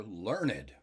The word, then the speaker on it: learned: At least when learned is an adjective, it always has 2 syllables.